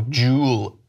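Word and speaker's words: Juul: ready to get really annoyed this is how it's spelled J u UL oh jewel and so apparently what she told me is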